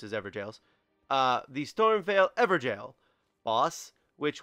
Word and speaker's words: Evergaol: the Stormveil Evergaol, which apparently that's how they're pronounced, is Evergaols.